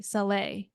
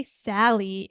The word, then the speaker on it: Saley: Ever since you told me that the way that you pronounce your name, Saley, it's actually Saleh, right?